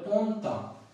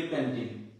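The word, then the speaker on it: Pantin: হচ্ছে অ, পি এর উচ্চারণ হচ্ছে প, তাহলে পন্তা, কি উচ্চারণ হচ্ছে পন্তা পন্তা। এখন যারা নতুন ফ্রান্সে আসে তারা যেটা উচ্চারণ করি প্যান্টিন হইল না তো কিছু, তখন তাদের কাছে মনে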